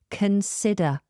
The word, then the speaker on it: consider: and it's the verb consider. Consider. Now this is spelled C-O-N-S-I-D-E-R. Consider. But can you hear how I'm pronouncing that O? Consider. This is weak, so make it a schwa sound.